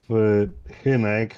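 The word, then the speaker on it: Hynek: and his name is Hinek. Am I pronouncing that right, Hinek? It would be more of Hinek, like the way the Czechs used to say it, but well, it's close enough.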